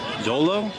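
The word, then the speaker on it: xolo: dante which is a and part of my pronunciation it's x-o-l-o so dolo which is a hairless usually toothless dog and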